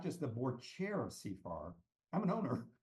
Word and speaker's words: CFAR: So is it CFAR? Is that how you're pronouncing it? CFAR. So there's an adage in Rwanda: if you see far, you go far.